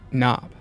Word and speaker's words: Nob: led by a knob short for Noble but pronounced knob a number of mobs